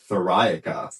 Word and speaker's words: Theriaca: We're here with Nate and Bryce of Thoria. Just got the correct pronunciation today after talking about this band for months and months.